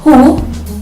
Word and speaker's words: who: The next rule is when the letter W is followed by the letter H in the beginning of words, such as in words who, whom, and whole.